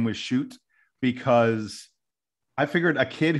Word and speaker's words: Schutt: learned since Thursday that his name is pronounced shoot Jason we are not